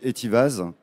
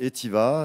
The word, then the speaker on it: Etivaz: Comme vous pouvez le voir à l'écran, ça s'écrit donc Etivaz. Donc, on ne prononce pas le Z. C'est Etiva.